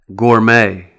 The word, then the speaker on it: gourmet: And some of these words will have the silent letter T as well, like ballet, gourmet, rapport.